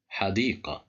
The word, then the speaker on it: حديقة: Here we have the letter dal controlled by kasra, and there is the letter ya right after the dal, so there is مد بالياء. That's why we pronounce it with a long vowel.